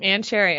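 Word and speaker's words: Ann Chery: It's a rubbery material, and but this one on the label it says Ann Cherry, and a cherry is spelled Chery. Ann Cherry. Okay. Yeah. All right. Ann for Ann, and then Chery.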